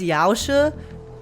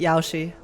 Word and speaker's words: Yaoshi: Oh, it's Yaosa. I've I've always pronounced it Yaoshi.